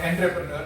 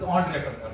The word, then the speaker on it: entrepreneur: Even though it is written as ENT, it is not entrepreneur, but it is entrepreneur. That is the correct pronunciation.